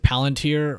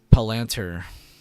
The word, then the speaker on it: Palantir: pronounce it sand dollar do you pronounce it palantir or Pal palanter I think it's palanter is how a lot of older people say and palantir has had a lot of younger people say it but I think